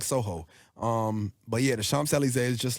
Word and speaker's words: Champs-Élysées: Okay, so I don't even know how to pronounce the song because it's Champs-Élysées. Champs-Élysées. Champs-Élysées.